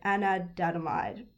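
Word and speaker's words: anandamide: i can't pronounce that properly i'm so sorry anadamide yes it's spelt a-n-a-n-d-a-m-i-d-e sorry if there's any scientists listening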